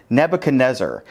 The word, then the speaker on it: Nebuchadnezzar: can use anyone today we're looking at king nebuchadnezzar in case you're wondering that is in fact how you pronounce that name and yet here we are